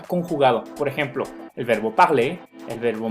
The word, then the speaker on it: parler: Sin embargo, la gran mayoría de las palabras que terminan en ER no se pronuncia la R. La R no se va a pronunciar. Siempre que vean una palabra con ER, pronúncienla como E.